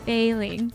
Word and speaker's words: Bei Ling: I forgot Bei Ling was a thing. Oh, wait, that's a thing? Oh, because her name is Mei Ling, and Bei rhymes with Mei. Bei Ling.